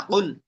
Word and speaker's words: قل: জিহ্বার গোড়া তার বরাবর উপরে তালুর সঙ্গে লাগাইয়া দুই নক্তাওয়ালা কফ। হ্যাঁ, কুল।